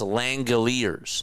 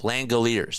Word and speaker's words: Langeliers: It's pronounced Langalers. Langelers.